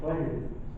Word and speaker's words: Pleiades: I think I pronounced that right. Bernie? What is it? Pleiades. Okay.